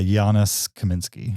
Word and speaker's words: Janusz Kaminski: Yeah, Janusz Kaminski.